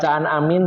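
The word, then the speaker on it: آمين: Jadi yang benar adalah panjang A-nya dan min-nya, terutama min-nya lebih banyak.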